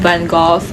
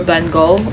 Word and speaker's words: Van Gogh: I say Vincent Van Gogh or Van Gogh. I know that both pronunciation are correct, and I've been loving Vincent since I was 11.